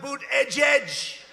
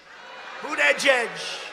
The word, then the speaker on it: Buttigieg: How about Buttigieg? Buttigieg. They call him Mayor Pete. You know why? Because nobody can pronounce his name. Nobody has any idea. Buttigieg. They say edge.